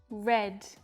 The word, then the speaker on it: read: put put and put read red and red notice the pronunciation changes but the spelling stays the same read read red say